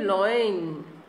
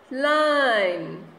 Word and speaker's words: line: Don't say loin. It is not a correct pronunciation. How we pronounce? line.